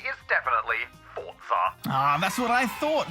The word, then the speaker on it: Forza: to say after reviewing the evidence the correct pronunciation is definitely fortza Ah that's what I thought thanks for that